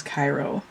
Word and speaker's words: Ciro: be pronounced but according to that book the pronunciation of his first name is cairo so anyway these are digitally drawn so they